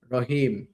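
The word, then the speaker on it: راء: একটু ভালো করে একটু মোটা করে আপনার পড়তে হবে। তো এটা কিভাবে পড়বেন? এটা পড়ার জন্য হচ্ছে আপনার এই হরফটির উচ্চারণ বাংলাতে র বিন্দুর মতন আরকি কিন্তু কিছুটা ব্যতিক্রম। র ধাক্কা দিয়ে পড়বেন।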